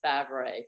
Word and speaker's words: Favret: If you Google me right now, it'll be like everywhere, and that is spelled a little different. But now it is Favret, Favret.